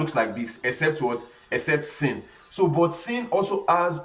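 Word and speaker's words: سين: Now sin is spelled sin, S-E-E-N, sin. And this sin now, in the English equivalent, is just like what? Just like somebody talking about C.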